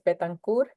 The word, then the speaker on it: Betancourt: Well, the pronunciation is Betancourt. Its origin is French, but no one pronounces it. It's Betancourt. Betancourt is fine.